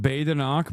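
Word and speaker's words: Badenoch: It's pronounced Bay-da-nock, but I don't care.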